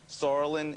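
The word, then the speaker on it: psoralen: Sorolin is a word that starts with P, but it's pronounced with an S.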